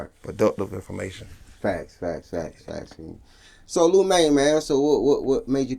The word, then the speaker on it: Liu Maine: They said it wrong. It was like, it stands for acronym like Live It Up. Oh, So that's dope. Oh, that's dope. So Live It Up Maine, but I said it's Liu Maine. Yeah, cause how you spell it is different too. Yeah. So you normally you think of Liu Maine, you think of Lou Yeah. instead of Liu.